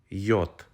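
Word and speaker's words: Й: Mark on top of it this letter is pronounced as yot next up we have a very easy letter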